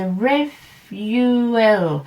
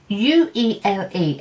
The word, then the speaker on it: Revuele: It's the Revoholic. It's Revuele, and the accent is over the V.